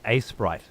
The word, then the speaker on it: Aseprite: just be aprite yeah aseprite that's what I said what does that mean I always hear it pronounced Ace Sprite Ace Sprite Ace Ace